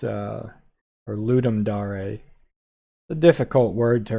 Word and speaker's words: Ludum Dare: Game Jam it's a Ludum dare a the difficult word to remember it's Latin it means to give a game Ludum dare a lot people say let him dare said that way a lot think about